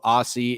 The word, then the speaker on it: Aussie: Also, Aussie is pronounced Aussie.